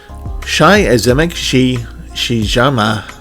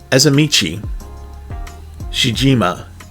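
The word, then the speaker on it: Azemichi Shijima: So, Shai Azemek Shijama. God, I'm so horrible at pronouncing Japanese names. I'm just really bad at it, so I'm really sorry. So, Azamichi Shijima, the correct way, has secretly been studying the art of comedy.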